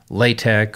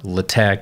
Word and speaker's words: LaTeX: you make with matplotlib using latex or lata however you prefer to pronounce it so the first